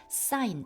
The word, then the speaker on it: sign: by sig사 sign g는 묵음입니다.